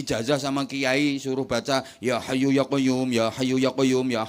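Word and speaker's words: يا حي يا قيوم: Dikasih ijazah sama kiai suruh baca ya hayyu ya qayyum, ya hayyu ya qayyum, ya hayyu ya qayyum. Keliru bacanya. Yo kayu, yo kayumu, yo kayu, yo kayumu, yo kayu, yo kayumu, yo kayu, yo kayumu.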